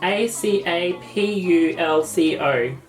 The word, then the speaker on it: Acapulco: this bloody name hey Siri how do you pronounce a CA pul Co if it had he pronounced ur like say